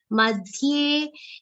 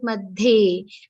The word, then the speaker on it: मध्ये: Madhye, this should not sound like madhe. Many people end up saying this as madhe. You have to be careful. The pronunciation will be madhye tishthanti.